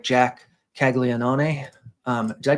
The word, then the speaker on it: Caglianone: stacks, I like Jack Caglianone. Did I pronounce that right, Roth? How do you? Is that? It's just you just kind of undersold it. And Caglianone, just you undersold it a bit.